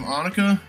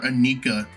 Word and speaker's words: Anika: We have Annika. And a lot of people are calling her Anika. And I'm like 99% sure that's not how you're supposed to pronounce it.